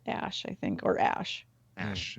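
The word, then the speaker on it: Æ: x-a-e or x-a-e-a-12 but the a-e is um pronounced ash i don't know how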